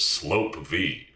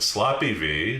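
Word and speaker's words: SLOPE-V: Neato G whiz because they pronounced it slope V but precisely no one else did and sloppy V sloppy vagina sloppy Vigor Sloopy Vlad every undignified variation took hold before coming to a collective rest on Sloppy Victor big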